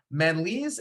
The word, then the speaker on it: Manalese: the ADHD men's support group Mr uh Manley's am I pronouncing that last name correctly awesome oh fantastic